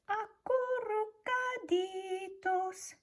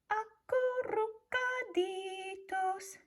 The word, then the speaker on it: acurrucaditos: It says acurrucaditos. Can you try that? Acurrucaditos. If you can roll your R's like Senora Gonzalez does, then give it a try.